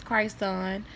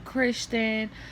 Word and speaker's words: Christ Son: And yes, his name is Christ Son. The way I'm pronouncing it is the way that his name is spelled, Christ Son. And a lot of places, business places, they be calling him Christian, or they call him